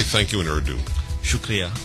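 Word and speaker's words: شکریہ: thank you in hero shukria oh shukria just like Arabic shuk yeah very powerful I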